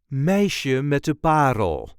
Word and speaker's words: Meisje met de Parel: This is the way we say Meisje met de PArel. Meisje met de PArel. There is a light emphasis on the first syllable of the last word. Meisje met de PArel.